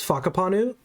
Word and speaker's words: Whakapanu: in the game and Jonathan in an interview pronounce Whakapanu Island as Whakapanu, and then I went and looked it up